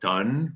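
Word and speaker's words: automne: day which is summer float done remember like ton of bricks we want to get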